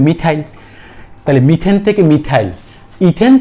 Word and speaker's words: methyl: দেখো METH, এরপর দেখো ANE বাদ দিয়ে YL, তাই উচ্চারণ কি হবে মিথাইল।